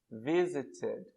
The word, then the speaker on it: visited: Aqui eu tenho visit. Eu vou acrescentar mais uma sílaba. Visited. Ou falando rápido, visited.